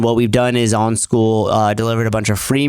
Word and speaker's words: Skool: on the platform called School. Did you make the joke about it or whatever? I did. I was like, yeah, that's actually what it is. That's how it's spelled. SKOOL. There's a platform called School,